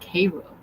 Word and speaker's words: Cairo: Kinjun said there is a town in South Georgia called uh Cairo, but it's said like Cairo.